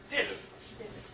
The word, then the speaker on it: diff: But if I want to see the actual lines that have changed, remember the D rhymes with if. Diff.